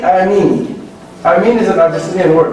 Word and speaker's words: Ameen: And by the way, sometimes many of us say it wrong in the salah. When they say Ameen. No, it should be Ameen. Okay? So we prolong it at the end, not at the beginning.